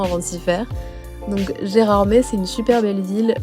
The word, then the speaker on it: Gérardmer: pour découvrir les lieux Gérard m encore une fois et non pas Gérard mer parce que je vous avoue que nous on a mis un petit moment avant de s'y faire donc gérardmet c'est une super belle